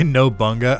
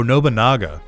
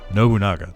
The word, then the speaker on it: Nobunaga: Did I just say Nobunga? How do you actually pronounce his name?